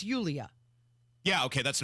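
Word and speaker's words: Yulia: doesn't she it's never like Sarah it's it's Julia yeah okay that's not Sarah right not Sarah but it's Julia Jane right you ulia ulia ulia yeah that sounds like kind of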